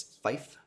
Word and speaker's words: fife: For 5, it's fife.